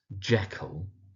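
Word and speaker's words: Jekyll: So it's Jackal. Emphasis on the Jack part, the first syllable.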